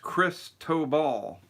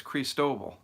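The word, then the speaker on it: Cristóbal: someone says it's pronounced Chris tow ball I thought it was Chris dovell that's what hurricane center pronunciation says CR EES like crease and then toh toh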